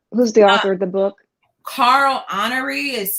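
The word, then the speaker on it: Honoré: author who's the author of the book carl honoree is spelled h-o-n-o-r-e okay we'll get it and we'll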